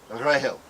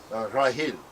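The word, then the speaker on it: רחל: The original pronunciation of Rachel in all the Semitic languages sounds almost identical to grail, Rahel, Rahil.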